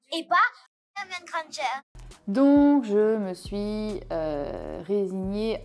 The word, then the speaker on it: Hermione Granger: Je suis Hermione Granger. Et du coup, dans la version anglaise, elle dit I'm Hermione Granger.